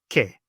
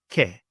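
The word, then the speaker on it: και: So the first one we have here is the A and the I combination, and together they make a E sound, E, as in the word set, and in the Greek example, ke, ke.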